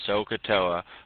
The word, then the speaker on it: SOHCAHTOA: confusing right now but three syllables separate them all out sohcahtoa where S stands for